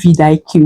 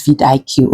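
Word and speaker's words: vidIQ: I don't know if you guys pronounce it as Vidik. Yes, I call it Vid IQ.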